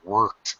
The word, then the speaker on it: worked: Worked with a very hard or even stretched R.